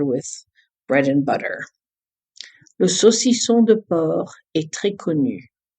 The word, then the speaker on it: saucisson: One of my daughter's favorite words is saucisson.